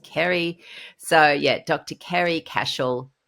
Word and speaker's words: Ceri: So she has an Irish way of spelling Ceri, which is Ceri. And before I had spoken to Ceri, I'm looking there going, is it Cherry? Is it Ceri? Well, how do we pronounce this? But it's just Ceri.